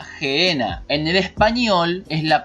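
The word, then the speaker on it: Γέεννα: hinom Gen jinon y en el griego se pronuncia genena en el español es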